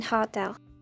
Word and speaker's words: hotel: is a wonderful animal there's also a tendency to drop the each in hotel I stay in a hotel not I stay in